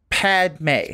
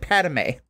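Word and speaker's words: Padmé: be teasing that like Anakin's wife's name is two syllables Padme pad not you said padame Padme Padme yeah anyway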